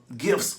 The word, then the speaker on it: gif: I think it's gif. I mean, I've heard it pronounced both, but it is spelled with the G. It's like a gift without the T.